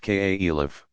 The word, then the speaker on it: caliph: you Mohamed's immediate successors called caliphs pronounced ka Elif inherited and expanding but